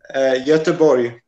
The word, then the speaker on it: Göteborg: Göteborg, is that pronounced correctly? Göteborg.